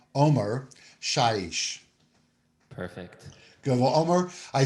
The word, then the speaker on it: Omer Shaish: I'd like to welcome to the screen Omer Shaish. Omer? Hi. Hi, how are you? I'm good. That was perfect pronunciation of my name.